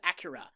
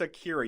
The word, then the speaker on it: Akira: Okay, first off, it's Akira, you fucking weeaboo. It's technically pronounced Acura. Shut the fuck up. How they, in the original Japanese.